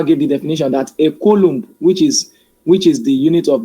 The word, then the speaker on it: coulomb: The unit of electric charge is coulomb, capital letter C, or coulomb. No, pronounce it wrongly because of the spelling.